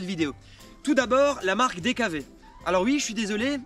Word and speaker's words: DKW: je suis désolé mais moi je dis DKV normalement c'est DKW mais tout comme BMW ici on est en Alsace et les W on les prononce V donc pour moi c'est BMW DKV et cetera donc on va